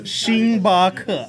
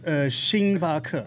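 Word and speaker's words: 星巴克: Starbucks is xing ba ke, and then Pizza Hut is bi xing ke. Xingba, huh? No, bi xing ke is. How do you say Xing ke. Starbucks? Starbucks is xing ba ke.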